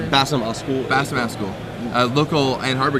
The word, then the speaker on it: Basem Askoul: Is that how you say it? Yeah, Basem Askoul.